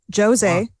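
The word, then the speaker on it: José: Jose, again, you pronounce the J because he's Brazilian.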